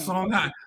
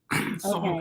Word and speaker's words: Songhai: Songhai. Some places you will see it spelled HAY, but it's pronounced I. Songhai.